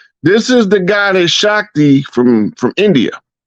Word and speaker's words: Shakti: It's pronounced Shakti.